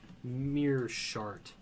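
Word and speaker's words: Meerschaert: I can't He's going up pronounce his against name either. Gerald Mearshart.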